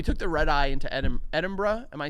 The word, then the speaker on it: Edinburgh: Well, so we took the red eye into Edinburgh. Am I saying that right? Yep. Because it's not pronounced.